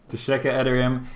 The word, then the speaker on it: Teşekkür ederim: I'm going to try and say Teşekkür ederim to you both. That's thank you in Turkish. Is my pronunciation correct? Yeah, Alright. it's nice. Very nice. Teşekkür, is that right? Just Teşekkür yes. ederim. Teşekkür ederim.